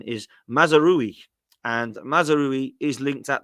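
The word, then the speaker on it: Mazraoui: Munich and I always used to call him mazery but apparently the pronunciation is mazeri and mazeri is linked at the moment currently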